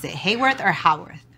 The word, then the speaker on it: Hayworth: Hayworth or Haworth? Respectfully to my parents and everyone, it's Haworth, but we say Hollywood here, it's Hayworth. So I don't know.